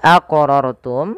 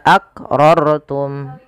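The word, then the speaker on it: أقررتم: Kesalahan yang terjadi dalam melaca qalqalah tidak memantulkannya. Contoh tumma akrortum. Ah itu tidak membacanya dengan pantul ya maka kurang tepat dan salah. Yang kedua, menambahkan hamzah. Contoh tumma aqrortum.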